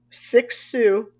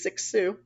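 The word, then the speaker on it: Cixous: um tulman Foucault derida six Sue that's how you pronounce that c-i-x-o-u-s is six Sue and Lake Hoff and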